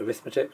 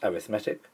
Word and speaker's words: arithmetic: an arithmetic sequence it looks like the word arithmetic but it's pronounced arithmetic and this is C1 this is a geometric